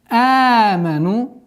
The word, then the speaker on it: آمنوا: آمنوا. آمنوا. Фатха в размере 2 огласовок. Ударение.